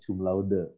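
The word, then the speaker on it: cum laude: katanya apa kata Hublot nadi dudukan kopel harusnya dibacanya cumlaude tetapi orang itu biasa koplo pada itu salah harusnya cumlode menurut bahasa Latin dikoreksi aja buat kita Yap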